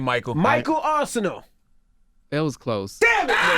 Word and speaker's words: Arceneaux: Arceneaux. Arceneaux. That's what I said. Well, Nah. and he can barely pronounce Michael, so just be glad he got that.